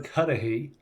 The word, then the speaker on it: Cuddihy: It's Kadahi, and it sounds a it's an Irish name, and it sounds an awful lot like Kennedy, except it has D's instead of N's.